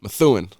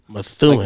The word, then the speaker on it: Methuen: Methuen. Methuen. Like crystal meth, and then like and then Ewan.